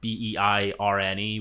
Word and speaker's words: Beirne: That's Beirne, which everyone insists on pronouncing wrong when they bring me up on stage.